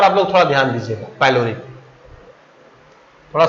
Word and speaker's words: pyloric: यानी इस पार्ट पर आप लोग थोड़ा ध्यान दीजिएगा, पैलोरिक, थोड़ा सा इस पर ध्यान दें कि ये जो पैलोरिक है इसका स्पेलिंग है PYLORIC, पैलोरिक।